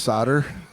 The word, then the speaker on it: solder: Yes, it's pronounced solder.